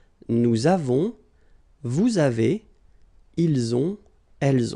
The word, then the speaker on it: nous avons: Nous avons, so you can put this little liaison, link between the two.